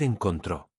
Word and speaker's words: encontró: Él, ella, usted encontró. Nosotros encontramos. Vosotros encontrasteis. Ellos, ellas, ustedes encontraron. Fíjate en algo importante. La tercera persona singular, el encontró, lleva acento en la última sílaba. Encontró. Ese acento es obligatorio.